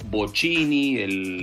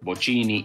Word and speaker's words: Bocchini: Bianchi y no Bianchi, o Bocchini, la máxima estrella de Independiente, mi club, es Bocchini y no Bocchini, y bueno, y así con todo.